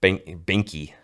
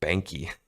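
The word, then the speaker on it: Behnke: whoops as all my buddies from Alabama they pronounce it Binky pinky pinky like no it's Banky it's all Binky there's a h in there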